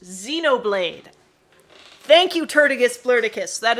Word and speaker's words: Xenoblade: laugh at joke god i'm funny z it's pronounced xenoblade thank you turtugus florticus that is a nice